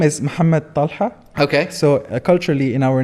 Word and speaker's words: Talha: Talha. Talha. Talha. Talha. The Arabic pronunciation is Talha. It's Talha. Ta lam ha and ha, like Okay. ta marbuta.